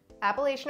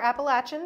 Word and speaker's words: Appalachian: state entirely within the Appalachian or Appalachian depending on where you come from how you say it mountain region it's